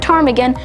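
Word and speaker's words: ptarmigan: is the willow tarmigan note the word tarmigan with a p at the beginning which is silent and the official Alaskan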